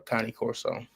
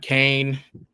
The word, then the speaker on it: Cane Corso: Cane Corso, not Kane, not Kanye, not Can.